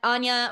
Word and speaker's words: Anja: say it um um it's usually Ana or Ana any okay I will say